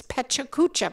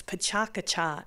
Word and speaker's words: PechaKucha: I can't even pronounce, Pechakucha, but that's not the way you pronounce it. Only some people, like ones that are from Easthampton, pronounce it that way. She can tell you what the proper Japanese pronunciation is, Pechakacha.